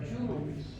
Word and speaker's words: jewelry: Two syllables are there. Jewelry. Re. नहीं Re. लिखा हुआ नहीं है. Jewelry. अलग होगा Jewelry. तीन नहीं, दो.